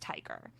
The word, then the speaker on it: TIGHAR: And so they're known by their acronym TIGHAR, which is pronounced Tiger.